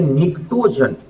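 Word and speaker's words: pnictogen: है और वो है निक्टोन निकटो जनस प से साइलेंट है यहां पे जिसका मीनिंग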